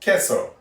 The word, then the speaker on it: queso: It is spelled like that way, and it is pronounced queso. Now, you'll most commonly hear it, at least in these parts, queso.